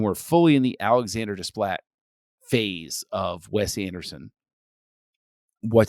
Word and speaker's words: Desplat: Now, Alexander Desplat, that's the proper way to pronounce his last name. Desplat won a lot of praise, uh, a lot of nominations, some awards for his score.